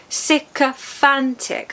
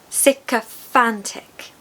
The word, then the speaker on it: sycophantic: So, we've got four syllables. Safantic. The third syllable is stressed and it needs to be like fan. Sickantic.